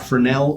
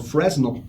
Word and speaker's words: fresnel: It's an 80 watt fresnel, or as the Americans say, a fresnel.